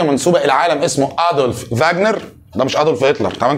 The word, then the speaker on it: Wagner: الماني تمام وانت بتذاكر ما اسموش واجنر اللي يقول لك واجنر اديله على قفاه على طول اسمه فاجنر تمام كده عشان الدبليو هنا تنطق في في الالماني ماشي فهو ادولف فاجنر